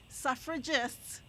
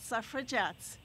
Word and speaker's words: suffragists: was ratified and gave say it right suffragists not suffer jets it didn't give but